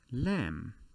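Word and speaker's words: لام: the the letter shape this is called lam or you can remember it from the english word lamb with a silent b the the animal or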